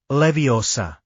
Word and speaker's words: Leviosa: Plus, you're focusing on the wrong syllable. It's leviosa. That's what I've been saying."